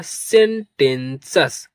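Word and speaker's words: sententious: तो प्रोनाउंस करेंगे इसको ई एन। इसे पढ़ेंगे सेन और टी ई एन इसे पढ़ेंगे 10 और टी आई ओ यू एस इसे पढ़ते हैं सस क्या पढ़ते हैं सस इस बात को आप लोग नोट कर लेना टी आई ओ यू एस जहां कहीं भी आपको मिलेगा उसे सस के रूप में प्रोनाउंस करते हैं।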